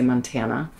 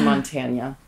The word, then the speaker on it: Montanya: But I also knew that we couldn't spell it with the traditional Spanish Nye, or the tilde on the N, because people would say, in the US would say Montana. We didn't want to be Montana rum. Right. So I added the Y to be Montanya rum so that we could trademark it, so it was unique to us. And people would actually pronounce it correctly when they said it.